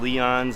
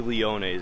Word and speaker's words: Leone's: Is it pronounced Leon's or Leone's? Oh, okay. So I just had a funny exchange with one of the guys that works over here. It's actually Leone's. I was saying it wrong, so that's a little embarrassing.